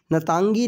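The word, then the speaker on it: Ntangki: park पाया जाता है इसका जो आई है वो साइलेंट है ना तंगी नेशनल पार्क नतांग की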